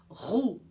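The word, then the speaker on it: roux: gente usa tanto no Brasil a gente vai pronunciar corretamente como whoo e a próxima palavra francesa vinda diretamente para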